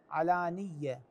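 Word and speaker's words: وَعَلَانِيَةً: بالليل والنهار سر وعلانيه علانيه الياء من دون تشديد الخطا الذي يقع به بعض الناس يضيف شده الى حرف الياء فيقول سر وعلانيه علانيه هذه علانيه غير صحيحه ماكو شده على الياء علانيه هكذا الصفحه التي بعدها في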